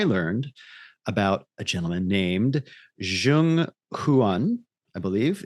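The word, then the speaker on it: Zheng: about a gentleman named Zhang huan I believe it's uh z h e n g but that's pronounced Zhang and he is the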